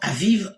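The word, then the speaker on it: אביב: Abib, ou conformément à la prononciation aviv en hébreu, mot hébreu qui signifie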